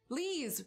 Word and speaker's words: Lees: Lees, rhymes with cheese.